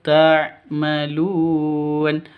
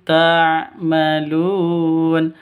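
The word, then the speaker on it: تَعْمَلُونَ: Mim mati bertebur dengan ta. Jelas terang. Karena bacaan izhar tidak boleh di dengungkan, tidak boleh disen sentak. Bima kuntum takmalun. Salah. Bima kuntum tamalun juga salah. Yang betul.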